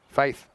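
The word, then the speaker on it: Fathe: So it's just an alternative spelling. It still would be there you go. Still would be pronounced that way. Faith.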